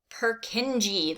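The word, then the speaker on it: Purkinje: fibers here's the word here's the word i want you to pronounce purkinji that's how we pronounce that now another point of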